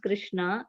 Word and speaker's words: Krishna: The words Hare, pronounced Hare, Krishna, pronounced Krishna, and Rama rhymes with drama, are Sanskrit words.